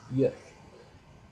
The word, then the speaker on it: Björk: It's pronounced Björk with an Ö, not an O.